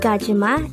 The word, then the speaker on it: 가지마: 1003 kachima kajima this is pronounced as a three syllable word the first syllable is